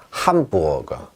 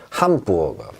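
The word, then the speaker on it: Hamburger: 함부어거. 함부어거. 함부어거는 함부어거란 뜻이죠. 자, 그런데 문제는 뭐냐? 우어. 이거 어디 갔습니까? 왜 우흐르가 아니라 우어가 됩니까?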